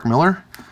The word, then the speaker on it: Millar: prodigy by our boy Mark Millar pronounced Miller and then the only